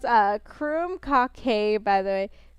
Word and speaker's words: krumkake: Krumkake is pronounced Krumkake, by the way. Crumb cake.